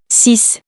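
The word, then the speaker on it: six: two following examples exactly x can be pronounced s for the numbers 6 10 60 and also the word coccyx you can hear it in this example sis this is the following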